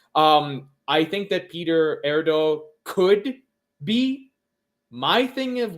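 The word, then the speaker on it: Erdő: So, uh, Peter Erdo, Erdo, I think is how you pronounce that.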